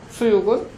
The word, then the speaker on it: 수육: 수육은 숙육 있죠. 한자로 쓰면 그렇죠? 숙육 한자로 쓰면 숙육 이렇게 써야 되는데 숙육한 발음하기 어렵죠. 그래서 숙육에서 기억을 탈락시켜 버리니까 어떻게 되죠? 수육, 한글로는 이렇게 쓰지만 한자로는 숙육이라고 써야 되죠.